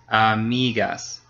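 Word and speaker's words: amigos: of course so uh if it end in an vow s or n the second to last syllable gets stretched so again the second to last last one migas friends all right okay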